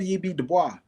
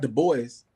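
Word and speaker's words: Du Bois: His real name is Web Dubois, not the boys. They say the boys because that's how they pronounce it in English is Dubois.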